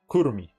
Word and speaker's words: Kurumi: Kurumi. There you go. That's how you pronounce it.